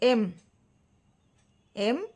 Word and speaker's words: MA: MA আমরা pronounce করছি কেমন করে, এম এই প্রোনাউন্সিয়েশনটা আসছে।